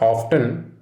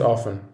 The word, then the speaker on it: often: o it is not often it is often there is a silent t in this word we have mastered the